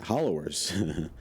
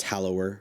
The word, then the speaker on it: Hallower: saying the unit wrong it's hallower not hollower a very close pronunciation but i still got it wrong but that's that's